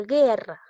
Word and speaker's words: guerra: E, en este caso no hay diptongo porque la U no se pronuncia. Guerra, ¿te das cuenta?